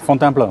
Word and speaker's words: Fontainebleau: Tomorrow morning I'm leaving for Fontainebleau, is that it? How do you say it? Fontainebleau, yeah.